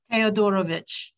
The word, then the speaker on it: Theodorovich: How do you pronounce his last name? Theodorovich.